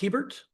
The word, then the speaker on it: Hebert: Next matter would be Hebert. Pronounced Hebert?